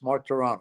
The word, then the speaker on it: Martorano: Martorano, is that correct? Yeah, 3 syllables. Martorano, yes.